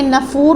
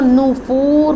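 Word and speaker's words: نُفُورٍ: رکھتے ہوئے پڑھیں گے۔ اور بعض لوگ جلدی جلدی میں نفور پڑھ جاتے ہیں، تو نون کے اوپر پیش ہے، اس کو نفور پڑھیں گے۔ افمن یمشی مکبا علی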